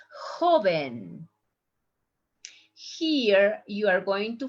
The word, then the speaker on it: joven: It's not joven, it's joven.